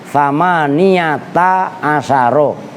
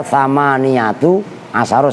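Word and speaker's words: ثمانية عشر: Itu perhatikan, saya bacanya thamaniyata asyara. Karena kemarin ada yang baca thamaniyatu asyara.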